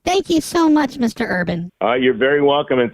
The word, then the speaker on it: Irvin: name no no no I said Urban like you are I know you you pronounced it correctly I appreciate that well I said you are B oh whatever it came